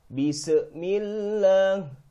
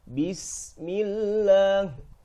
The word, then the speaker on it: بسم الله: Jadi kebanyakan orang membaca sin sukun di sini, mereka pantulkan cara membacanya. Seperti ini kebanyakan orang cara membaca sin sukun. Bismillah. Kesalahan fatal ketika kita memantulkan huruf sin berharokat sukun. Yang benar Bismillah, sinnya tidak dipantulkan.